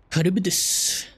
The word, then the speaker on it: Charybdis: I got reincarnated as a slime episode 19 kibis that's how you say it now it's after